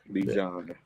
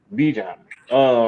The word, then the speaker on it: Bijan: Bijan. Bijan.